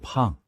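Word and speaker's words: 胖: Arno, this character is pronounced "pang" and means round and plump.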